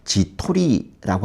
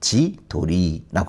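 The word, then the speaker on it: 自撮り: 두 단어가 합쳐지게 되면이 가운데에 있는 단어의 발음이 밖교예요. 어 그래서 지토리라고 하지 않고 지돌리라고 합니다.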